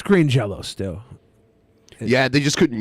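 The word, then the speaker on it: Green Jellÿ: name to green jelly they did the way it was spelt but they still pronounced it green jello it's true uh the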